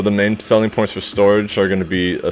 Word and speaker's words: Storj: ventures for a while that is storage or it's pronounced storage it's an open source